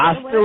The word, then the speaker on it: Osta: Osta like pasta. I can't. Everyone says Osta, and I'm just like, it's not Osta, it's Osta. Osta like pasta. Osta like pasta, all right?